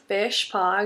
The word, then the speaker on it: Fishpaw: Um, Fishpaw, exactly like how you would think it is spelled.